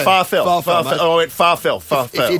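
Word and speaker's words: Pharrell: good I went and ask him how he pronounce this it's farel I went farel far you don't know don't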